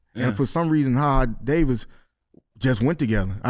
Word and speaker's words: HaHa: Because I'm just no, it's because you that's really Jaja. I was. Yeah, that's Jaja. Nah, but it could be pronounced HaHa.